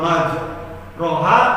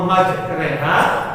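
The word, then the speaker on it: مجريها: terus imalah ya Allah maj roha w saha gitu ya surat apa tuh nuh ya surat nuh ya itu salah bacanya harus dibaca Allahumma majreha wa mursaha namanya imalah kalau kita enggak ngaji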